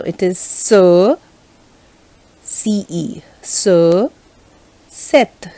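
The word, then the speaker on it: cet: much confusing so it is so ce so set c e t set and then again c e double t e again pronounced as set and then we have say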